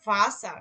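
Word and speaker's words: Wasser: খেয়াল করছেন হয়তো বা, যখন আমি এখানে ভাসার, এই যে ভাসার যখন আমি উচ্চারণ করছি তখন কিন্তু এই যে আরটাকে কিন্তু আমি উচ্চারণ করি নাই ওইভাবে, কি বলছিলাম, ভাষা, তাই বলছিলাম না? ভাষা, হ্যাঁ, ভাষা, যে আরটা খুব আস্তে আস্তে, ভাষা মানে হচ্ছে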